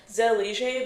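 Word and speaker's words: zellige: So this specifically is called Zelier Mosaic. It's spelled Z E L L I G E.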